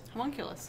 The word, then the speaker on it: homunculus: Well, and I'm probably going to pronounce this incorrectly, but it's homunculus? Homunculus. Oh, I pronounced it correctly.